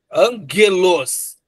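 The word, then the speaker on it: ἄγγελος: E aí você pronuncia assim, angelos, e não angelos. Então, é sempre esse som forte, Aí seria angelos, anjo na língua, tá?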